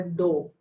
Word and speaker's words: dough: atta and pour some water and make a dough. That is called dough. And the pronunciation is dough, Dough.